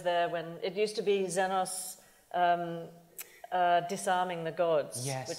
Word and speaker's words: Xenos: about Prometheus, that was XENOS was the first one that connected with it. And we actually say 'Xenos' [different pronunciation, Greek] XENOS, yeah. A bit sharper.